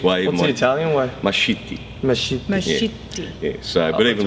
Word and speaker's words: Mascitti: Well, I mean, if you look at it from the point of view, the proper Italian way, it's not.